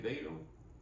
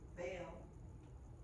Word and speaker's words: Vail: You say Vado? Vail.